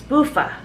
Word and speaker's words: Buffa: Yeah, and then I was like, it's Buffa. It rhymes with loofah.